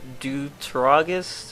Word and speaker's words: Deuteragonist: A term I believe I heard used was Deuteragonist or something like that. It's pronounced like antagonist or protagonist, and it essentially means another character that shares the main role.